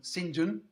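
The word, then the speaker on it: St John: in the Carrodus Engine it looks like st. John but we pronounce st. John syndrome in England I don't know why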